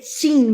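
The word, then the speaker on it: Qing: Então nós temos ali quando cai a dinastia, e a pronúncia do podcast é horrível, é chin mesmo.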